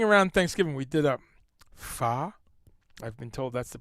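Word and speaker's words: phở: Starting around Thanksgiving, we did a pho. I've been told that's the proper way to pronounce it. Pho? With a little lilt. Like it's a question.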